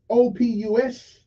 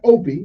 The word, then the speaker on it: opus: Magnum, OPUS. Now, that's not Opie, that's close to it, though.